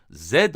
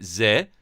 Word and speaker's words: Z: nasıl okunduğunu tartıştığınızı düşünün Kanada’daki herkesin bu harfi zed diye okuduğunu söylemeniz yanlış olmaz. Bu yüzden kanada ingilizcesindeki Doğru okunuş Türkçe'deki Zee ya da İngilizcedeki zii değil Zed dir diyebilirsiniz.